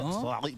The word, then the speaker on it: Solari: Yeah, Solari. This is the correct pronunciation.